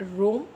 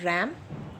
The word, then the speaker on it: RAM: Now primary memory के under में है रोम एंड रैम। Now don't pronounce it wrong, कई बच्चे राम पढ़ते हैं इसको, that is नॉट राम, that is रैम। Secondary memory के अंडर में